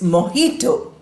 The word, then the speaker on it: mojito: It is the sound of her, the English her sound, H sound.